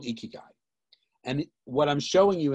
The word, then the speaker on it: ikigai: really think about uh during this time is ikigai so ikigai and i'm pronouncing correct now is a japanese philosophy and